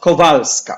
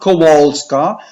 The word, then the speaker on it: Kowalska: parish so this is Sister Faustina Faustina can pronounce any way you want but kovaleski it's not kowalska but it is co co val/val scott scott